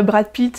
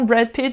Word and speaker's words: Brad Pitt: plus à la radio, les noms d'acteurs qui sont prononcés à l'anglaise, correctement, c'est pas Brad Pitt et Julia Roberts, mais on le prononce avec un bon accent, Brad Pitt et Julia Roberts.